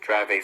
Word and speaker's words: Dravet: Vera, can you just explain for our listeners, and I may be mispronouncing Dravet syndrome, is that right?